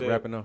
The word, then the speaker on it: Rapinoe: I said it right, Rapinoe?